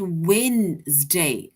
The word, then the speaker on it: Wednesday: Then if we abbreviate Wednesday, right? So Wednesday, we say it's Wednesday, but if you spell it, right, or if you want to really